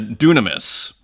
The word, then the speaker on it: δύναμις: my favorite word is dunamis d y n a m i s he pronounced the Y like a u sometimes uh dunamis and it has three